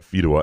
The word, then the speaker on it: Fedewa: Garrett Fedawa, and apparently I've been mispronouncing that last name because they're realtors in this area. They're big people. I've been calling them Fedawas for years. Fedawa, I thought.